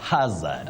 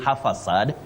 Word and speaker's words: hazard: H Hazard you're right you say h Hazard okay what we should avoid is saying half aad many people innocently say